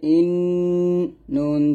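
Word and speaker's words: إِنَّ: তারপর হামজা নুন জের ইন, নুন জবন্না ইন্না ইন্না।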